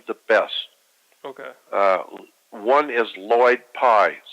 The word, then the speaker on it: Lloyd Pye: One is Lloyd Pye, spelled with two L's, L-L-O-Y-D.